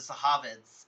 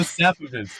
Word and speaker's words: Safavids: like I wanted to, the Sahavids, or however you pronounce that, No, it's the Safavids.